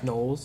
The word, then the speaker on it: Knowles: Knowles.